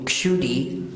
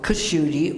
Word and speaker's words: Kshudhi: Like my name is actually Kshudi. प्रजी बता रहे हैं जैसे उनका नाम है. But in English it either comes out Kushudi or Shudi.